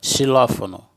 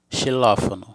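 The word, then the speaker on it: xilófono: chamada de la ex vai ter um som de s recebem puxado como na palavra xilofono xilofono e agora vem a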